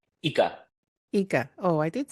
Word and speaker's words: IKA: us exactly what Inca is how do I pronounce it correctly EA eeka oh I did say it correctly tell us